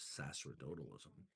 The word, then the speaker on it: sacerdotalism: So sacramentalism, or as I used to call it, sacerdotalism, the actual correct pronunciation is sacerdotalism.